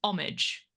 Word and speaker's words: homage: um that the word the pronunciation of that word in English is homage we don't pronounce the h or some in some like there is like you would say do you pay homage to someone we don't